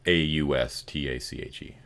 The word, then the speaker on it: Austache: So his name is spelled Austache. Okay, it's AU, not O. Yeah, Eache. Yeah, it's sort of like mustache, but it's Austache. Almost got it right.